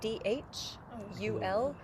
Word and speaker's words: Dhul: Is it Dhul? It's spelled with a D-H, U-L, but the DH makes a the, kind of like a TH, a soft TH sound in English.